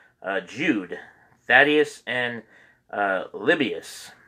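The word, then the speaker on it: Lebbeus: jude thaddeus and uh libyus l-e-b-b-e-u-s libius i think that's how you pronounce it but uh we try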